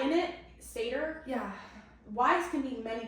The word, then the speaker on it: satyr: How do you pronounce the animal that Grover is? Satyr? Satyr. So I have a pronunciation clip here because I don't know how to say it. So I just wanted us to hear it together. So it's a YouTube video. Satyr. Okay, so you're doing it right.